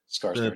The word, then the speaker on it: Skarsgård: Definitely, I know I said it last episode, but how do you pronounce his name? Skarsgård? Skarsgård, yeah.